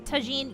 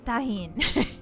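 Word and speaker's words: Tajín: I think it's tajine. Yeah, if you're American, you pronounce it tajin. Tajin. But if you're if you speak Spanish, it's tahin. I'm pretty sure Violet's favorite berries are green peppers.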